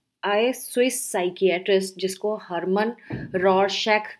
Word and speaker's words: Rorschach: फॉर you guys so today's top topic is roar sac test अब रर कई लोग इसको तरह-तरह से प्र प्रोनाउंस करते हैं बट आप ग करके एक